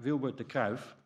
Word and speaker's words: Wilbur De Kruif: hello everybody um so the first speaker is pronounced like vilbert the calf learned this one for the next time it's